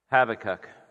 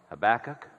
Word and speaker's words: Habakkuk: in the book of habakkuk or it can also be pronounced habakkuk whichever way you want to do it there is no problem but the title of